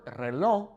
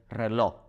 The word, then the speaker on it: reloj: It's weird because the word reloj kind of sounds like a K when native Spanish speakers say it, especially here in Mexico. They might sound kind of like they're saying el reloj.